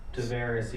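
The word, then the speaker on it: Taveras: Tavares. Yeah. Am I saying it right? Tavares, yes.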